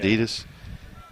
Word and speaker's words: Adidas: Is it Adidas? Adidas. Well, just You know that's the correct way to say it. Adidas.